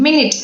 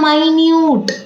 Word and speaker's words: minute: they have different meaning and they have different pronunciation minutes m-i-n-u-t-e minute and m-i-n-u-t-e minute look at the